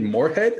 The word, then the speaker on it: Moorhead: tight end at the universe at minnesota state moorhead am i am i getting that correctly am i getting the pronunciation yeah yeah it was there's two minnesota